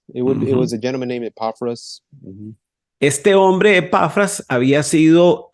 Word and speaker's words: Epaphras: Epaphras, it was a gentleman named Epaphras. Este hombre, Epafras, había sido, se había convertido al cristianismo en uno de los viajes misioneros de Pablo. Epaphras had become one of the missionary disciples that